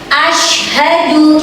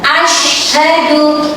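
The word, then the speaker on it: أشهد: Oke, dari yang pertama, asyhadu, shinnya itu tebal, asyhadu.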